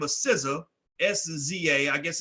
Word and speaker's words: SZA: One of them is an artist by the name of SZA, S-Z-A, I guess it's pronounced SZA.